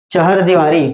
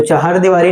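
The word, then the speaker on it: चहारदीवारी: चहर दीवारी, तो चहर दीवारी नहीं, इसको आप चहार दीवारी, ठीक है, चहार दीवारी।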